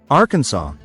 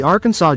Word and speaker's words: Arkansas: the general assembly, that the name of this state shall be pronounced in three syllables with the final silent, the A, in each syllable with the Italian sound, and the accent on